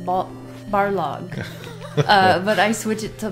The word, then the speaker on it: Barlog: Although his name is actually pronounced Barlog. But I switch it to Balrog, and I can't easily go back.